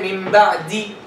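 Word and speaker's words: مِن بَعْد: In the case of waqf, for example, you say min ba'di. If you stop on the word min ba'di, you say min ba'd. So you pronounce two consecutive sukun.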